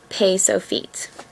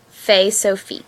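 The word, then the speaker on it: ף: And then we have pay sofit. It's fe sofit, so it's the same sound of a f, except on the end of the word.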